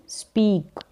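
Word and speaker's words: speak: बोलना, क्या है, बोलना यानी कि स्पीक, बोलने की अंग्रेजी स्पीक, ई ए का उच्चारण बड़ी के रूप में।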